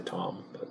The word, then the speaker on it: Thom: I say Tom. I say Thom because there's an H in there. The H is silent.